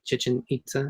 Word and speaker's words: Chichen Itza: I wanted to see I think it's the Chichen Itza is how it's pronounced, the Mayan pyramids.